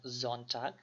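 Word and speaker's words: Sonntag: হয় না আর কি যেমন এখানে এস টারে অনেকে যারা বাংলাদেশে গুয়েত ইনস্টিটিউট তারা অনেকে এটারে এস বলেই থাকেন কিন্তু আসলে এটা এস হবে না এটাকে আমরা জেড এর মতন জন চাক এবং এটারে আমরা ডিনস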